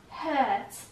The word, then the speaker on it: hurt: you this may hurt hurt توی لحجه بریتیش اینطور تلفظ شده this may hurt okay hurt و آر تلفظ نمیشه ممکنه به تو این